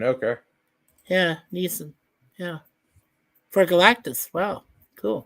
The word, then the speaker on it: Neeson: I'm not sure how to pronounce that properly. N-I-E-S-O-N? Yeah. Neeson, okay. Yeah, Neeson.